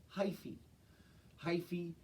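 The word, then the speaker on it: hyphae: has its own name this word hy ph e is pronounced - hi fee is just a fancy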